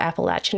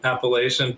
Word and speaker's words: Appalachian: the Appalachian Mountains and then I realized, oh, there's more than one way to to say it. So, there I go. Yeah, I'm more lenient than a lot of people are in the region. I think uh I'm like fine with people saying Appalachian, but if you went to my hometown, you'd get very heckled with uh if you said it the wrong way.